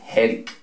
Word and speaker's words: headache: Su pronunciación, H equivale a J en este caso, ¿cierto? Combinación EA, en este caso para cabeza, se pronuncia como E. Y luego esta D la vamos a pronunciar como una R, puesto que está en medio de dos vocales, de la E y de la A.